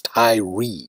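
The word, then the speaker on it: Tyre: Ty Ty that is Ty re pronounced by Americans Tyrie as in Tyrie Nichols who was beaten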